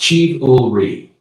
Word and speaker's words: chivalry: You said chivalry correctly. It's pronounced chiv-ul-ri.